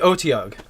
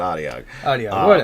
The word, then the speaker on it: Otyugh: going to call us we'll go with the OT ugh I'm Adi ugh I pronounce it audio audio however you like to pronounce I've seen on that's right it pronounced like four or five different ways so however you pronounce